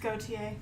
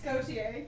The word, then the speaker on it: Gautier: It's pronounced Gautier. Gautier? It's Gautier, yeah. You should have to say it right, I'm sorry. I'm never gonna get this right. It's Gautier, it's so easy.